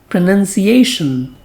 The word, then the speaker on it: pronunciation: is spoken as pronouns but its noun form has a different spelling and sound it has n u n so it is spoken as pronunciation pronunciation pronunciation now another meaning of